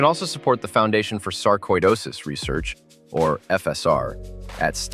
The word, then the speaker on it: sarcoidosis: The word is saridosis, not sarcidosis. The middle sounds like koi, as in koiish.